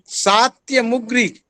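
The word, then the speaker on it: सात्यमुग्रि: मुग्री एक शाखा है ध्यान से इसका उच्चारण सुन लीजिए सात्य मुग्री और एक है राणायनीय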